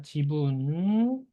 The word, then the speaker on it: 自分: 발음만 넣고 보면 지분이라고 합니다. 지분 스스로 자자에 나눌 분자죠. 이렇게 자분이라고 기억하시면 안 됩니다.